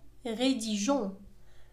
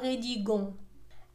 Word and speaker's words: rédigeons: أصبحت الجملة nous rédigeons. Nous rédigeons le compte rendu. إذا كذلك أضفنا E إلى G أو أضفنا E بين G والنهاية ONS، وذلك لتصحيح النطق لكي لا تنطق rédigons.